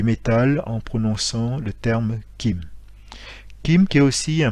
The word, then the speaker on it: kim: élément qu'est le métal qui se prononce et qui écrit kim donc l'écriture permet la prononciation puisque on le ferait